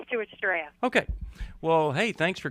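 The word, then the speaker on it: Stuarts Draft: how do you say that that's right it's Stuarts draff okay well hey thanks for calling us thanks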